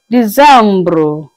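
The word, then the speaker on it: décembre: December is pronounced as Decembre.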